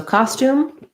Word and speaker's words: costume: historical costume same pronunciation so we have an ah vowel first syllable stress and then stum in american english no no yes sound here just right to the um so thinking about that like ca stoom british english they might do stume with more of a yeah in there but we don't want that in american english costume and yes both both